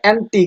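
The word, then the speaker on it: antique: ঠিক সেগুলো একইভাবে এইখানে অ্যান্টিক এই শব্দটির ক্ষেত্রে টিক শব্দটির উচ্চারণ যেহেতু এখানে জোরালো, তো সেটিকে হচ্ছে আমরা স্ট্রেস করেছি এবং বাকিটিকে আনস্ট্রেস।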